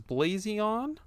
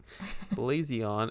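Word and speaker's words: BlaZeon: It was Blazion, is how I'm going to pronounce it. It's BLA with a capital Z, Eon. Blazion.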